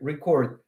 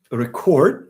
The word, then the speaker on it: record: So here record if it's a verb. If it's a verb you stress the second part record.